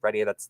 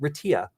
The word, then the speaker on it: Retia: Retia, that's been me. So if you, and some people prefer to pronounce it Retia. I'm cool with that. You can do either one, whichever you find more appealing.